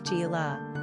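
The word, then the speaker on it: Síle: where the name was interpreted as Sile in the Gaelic tongue, pronounced Sheila, which eventually became anglicized as Sheila.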